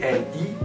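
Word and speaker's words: gli: soit par s Z vous avez li g L I qui se prononce li vous devez donc dire li amich li spectacoli ça ce sont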